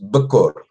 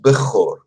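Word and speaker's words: בכור: Il y a deux possibilités de prononciation. Les Samaritains prononcent Bekor. Ah, Bekor. Les Judéens prononcent Bechor. Mais c'est la même lettre.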